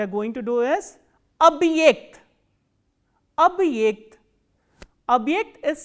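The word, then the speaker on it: объект: The next word we are going to do is abhyekt. Abhyekt. Abhyekt is spelled as O, B, hard sign, ye, k, t.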